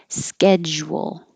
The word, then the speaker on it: schedule: knew that natch schedule the SCH is a SK almost always get schedule round your lips a lot so it makes a wool if you don't it'll sound like schedule so schedule Bear the